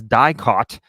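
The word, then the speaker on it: DIICOT: However, in this new case, Romania's anti-organized crime agency, which could only be pronounced as DICOT, said it is investigating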